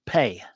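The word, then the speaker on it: phat: It's traditionally spelled P-H-A-T, means crack or boom, but in Tibetan it's pronounced pei.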